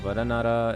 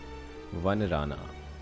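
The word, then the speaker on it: Vanarana: Varanara is Vanrana. It's how it's pronounced.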